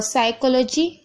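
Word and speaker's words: psychology: और साइकोलॉजी, यहाँ पर देखिए पी साइलेंट है।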